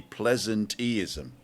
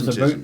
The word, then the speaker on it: pleasanteeism: So I think that the pronunciation I would use would be pleasanteeism.